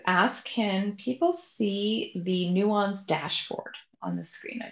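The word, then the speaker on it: NUANS: just want to ask can people see the Nuance dashboard on the screen I just want to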